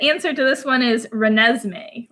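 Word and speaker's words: Renesmee: stumped people the answer to this one is reneesme reneesme because it's a combination of Renee and Es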